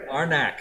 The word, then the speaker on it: Arnak: so I don't pronounce it wrong. Lost Ruins of Arnak. Arnak.